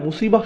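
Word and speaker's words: مصيبة: এরপর আবার শব্দটির শেষে রয়েছে তা মারবুতা, যে জন্য আমরা মুসিবাহ উচ্চারণ করি, মুসিব না কিন্তু।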